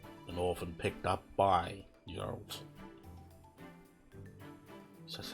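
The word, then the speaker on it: Jeralt: Geralt, yeah, that's how you say it.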